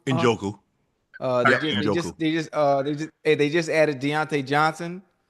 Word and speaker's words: Njoku: Njoku. Njoku.